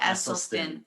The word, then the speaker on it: Esselstyn: even say it right name essie dr caldwell esselstyn yeah there we go so you know when